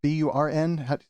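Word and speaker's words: Byrne: than withhold your money burn is what is the burn funds but b-u-r-n how do you spell that word i believe it's burn b-y-r-n-e okay b-y-r and that's burn grant money i believe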